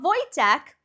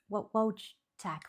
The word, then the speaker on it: Wojtek: So, this is I've Googled how to pronounce this name. So, this video is called The Story of Wojtek, the Polish military bear.